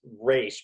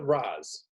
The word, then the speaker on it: Ra's: So I know it's Raish, but why did they go with Raz?